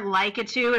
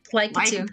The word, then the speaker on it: Lakitu: Hey, do I not have to pay for Lakitu if I play as Lakitu?